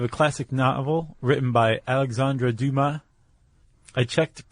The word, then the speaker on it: Alexandre Dumas: We have a classic novel written by Alexandre Dumas. I checked pronunciation.